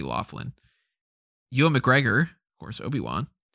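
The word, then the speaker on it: O'Loughlin: west goran vishnik alex o'lachlan i think it's pronounced the it might be laughlin ewan mcgregor of course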